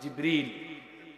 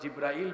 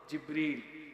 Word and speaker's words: জিব্রীল: কারীমে ফেরেশতার নাম এসেছে জিব্রীল আমরা অনেকেই ভুল উচ্চারণ করি জিব্রাইল বলে ফেলি কিন্তু এই ফেরেশতার সঠিক নাম শুদ্ধ উচ্চারণ হল জিব্রীল বলেন সবাই বলেন জিব্রীল নবীজির সময়ে কোরআন সংরক্ষিত